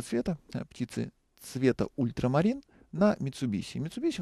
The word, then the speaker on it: Mitsubishi: кончины фирмы Mitsubisi кстати японцы произносят её Mitsubish и они вот пришептывать на этом слове Ну у нас как-то